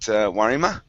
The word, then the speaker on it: Warima: Now, am I pronouncing your name correctly? Is it Warima? Yeah, sure. Okay, good.